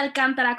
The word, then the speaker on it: Alcántara: Yo soy Alcántara con acento en la A, la palabrista, la que